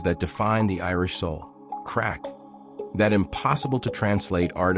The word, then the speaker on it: craic: It's called crack, pronounced crack.